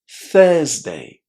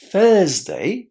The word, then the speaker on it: Thursday: Thursday. Thursday. So, Tuesday is pronounced with the u sound in the first syllable. T. Tuesday. Thursday is pronounced with a long e in that first syllable.